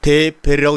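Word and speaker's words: דֶּבֶר: 그래서 이것은 다바르라고 읽고 요것은 데베르라고 읽는데 데베르라고 이름을 할 때는 이것은 말씀이 아니라 전염병이라는 말이 됩니다.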